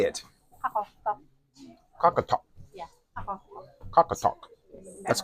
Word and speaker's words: Qaqortoq: Qaqortoq. Qaqortoq. Yeah, Qaqortoq. Qaqortoq. That's close. Okay, so it's gonna be Qaqortoq.